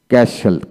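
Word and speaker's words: castle: রাসুল রেসুল অফ অফ সফন সফন Hesson Hesson ক্যাসেল ক্যাসেল মাসুন্ট মাসুন্ট Vasal Vasal নেসলে নেসলে অলস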